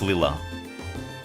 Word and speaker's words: Lila: I was like, is it Lila or is it Laya now? Finally, only like after playing like 13 Trails games after, finally have it confirmed. It's It's Lila.